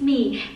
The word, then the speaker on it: Mi: everyone, my name is Mi. It's written like my in English but pronounced like me in Vietnamese.